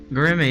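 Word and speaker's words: Göreme: Goremay. Yeah, that's how you pronounce it.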